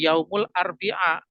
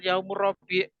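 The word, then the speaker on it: يوم الأربعاء: misalnya hari Rabu ngih Yaumul arbia bukan yaumurabi ya tidak ada kata yaumur rabi' itu ya kalau yaumur RI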